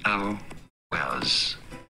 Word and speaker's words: Elwes: Elwes.